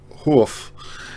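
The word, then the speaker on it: Hjorth: tricky to pronounce Greg it sounds like HF Greg HF um he was um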